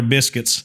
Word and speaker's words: Biscuits: You got to say it like somebody from from Montgomery. The Montgomery Biscuits. Montgomery Biscuits. Biscuits. You got to put a lot of emphasis on that first I.